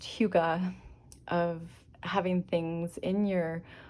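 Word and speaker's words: hygge: the Danish uh concept I think it's pronounced Huga of having things in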